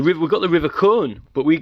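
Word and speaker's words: Colne: we've got the river cone but we we pronounce it c-o-l-n-e but it's it's corn you know and and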